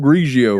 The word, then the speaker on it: Grigio: Grigio, not Grigio. Pinot Grigio. There you go. Pinot Grigio. The GR. Grigio. Like jealous. The j sound.